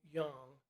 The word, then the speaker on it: Jung: I'm just going to fast forward a couple of millennia up to two people who we call Carl Jung and Carl Rogers. Carl Jung, it's spelled actually Jung, Jung, okay?